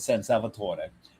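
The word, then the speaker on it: San Salvatore: And we went to the top of San Salvator and yes, I'm saying it right because this particular area of Switzerland is is Italian.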